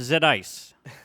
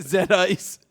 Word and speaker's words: Z-Ice: But But a it's fixed pronounced Z-Ice. it'll have a Z-Ice. Is that like Zima? It is. Zima yeah, Ice.